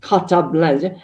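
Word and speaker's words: carte blanche: have caught as a french hope as i pronounce the correct cutter blanche well it means a blank check to do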